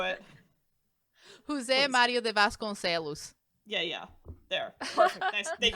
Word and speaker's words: Vasconcelos: Mario de Vasconcelos.